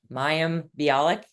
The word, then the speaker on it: Mayim Bialik: I saw a video of you with Mayim I would mispronounce her name. Mayim Bialik.